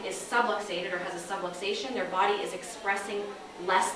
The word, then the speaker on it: subluxation: with the word is subluxation subluxation rhymes with subway station that's just a big